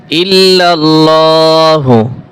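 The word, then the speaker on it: إِلَّا ٱللَّٰهُ: লা ইলাহা অনেকে পড়ে লা ইলাহা লা ইলাহা লা ইলাহা ই হামজা জের ইলাহা লা ইলাহা ইল্লাল্লাহু ইল্লাল্লাহু এইখানে ইল্লাল্লাহ বলা যাবে না আল্লাহ বলতে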